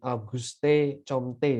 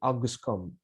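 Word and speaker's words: Auguste Comte: yang bernama August Comte jadi bacanya itu bukan aguste Comte Bukan gitu ya tapi Agus come ya dari Perancis Apakah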